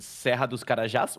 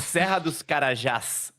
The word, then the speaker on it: Serra dos Carajás: But for example, I think in Serra dos Carajás, which is a terrace, I think it's very good.